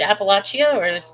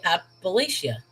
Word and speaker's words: Appalachia: I told you, with a lot of things, I usually like do an ah sound. So Appalachia.